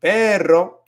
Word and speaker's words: perro: rolling your R, but you don't want to roll your R with with pero, because it's not supposed to be a rolling sound. Pero with perro, un perrito, then that is when you're gonna roll your R.